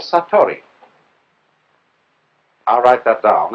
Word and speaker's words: satori: In Japanese, in Zen, it is called satori.